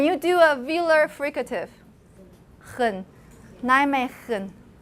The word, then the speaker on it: Nijmegen: after the n, but the g sound in it's pronounced as a velar fricative. It's pronounced as velar fricative. So it's not Nijmegen. Can you do a velar fricative? Nijmegen.